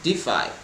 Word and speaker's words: DeFi: to provide decentralized finance solutions or defi pronounced defy to its users so i'm